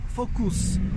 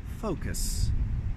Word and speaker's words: focus: I hear it mispronounced so often as focus or focus or simply focus. It's just focus, focus, okay? More of an O in there, not focus, but focus.